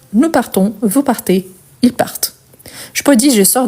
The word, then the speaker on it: partent: Ici, ce que je prononce, c'est le T à la fin. Donc, ils sortent, ils partent.